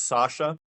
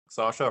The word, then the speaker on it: Sascha: And in Germany, just imagine my name being spelled without the letter C in it.